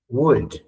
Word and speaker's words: would: Con la D al final, la L no suena, ¿ya?